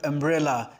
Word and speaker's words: umbrella: u in the word umbrella is pronounced as a m m bre la it is pronounced as umbrella the first sound is uh therefore we use n